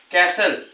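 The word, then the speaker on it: castle: कुठे सायलेंट आहे पाहू टी सोबत जर एल असेल म्हणजे टी च्या पुढे एल असेल तर त्या ठिकाणी टी चा उच्चार होत नाही टी सायलंट आहे बघा कॅसल टी आणि एल आहे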